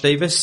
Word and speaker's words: Davies: It is generally true that the Welsh surname that looks like Davies in letters is pronounced Davis, right, in general.